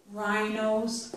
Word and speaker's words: rhinos: pronounce that H okay rhinos this say is not pronounced either as a matter of fact